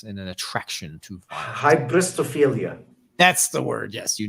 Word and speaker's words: hybristophilia: It's like hyperbistobrelia. It's a psychological term that talks about the fascination with essentially violence and an attraction to violence. Hybristophilia.